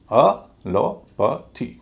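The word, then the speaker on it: allopathy: फिर हल्का हो जाएगा तो पूरे शब्द का उच्चारण होगा अ ल प थी अलोपैथी अलोपैथी एलोपैथी की तरह और भी जितने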